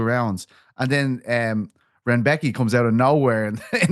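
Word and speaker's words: Rębecki: You see, they call Renbecki, I believe is how you call the name. They call him Rombeks. They have a wild way of pronouncing that name. Rebecki? They call him Rongbecki on the broadcast. And I just texted a lad who speaks Polish today, and I said, "Please tell me how to say his name." And he said it was Renbecki.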